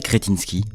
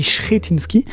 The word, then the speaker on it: Křetínský: D'abord, Benoît d'Aragon, présentez-nous cet homme d'affaires, Daniel Křetínský. Alors là, vous avez prononcé son nom à la française en tchèque, puisqu'il est tchèque, on dit Křetínský, né en République tchèque sous l'emprise soviétique.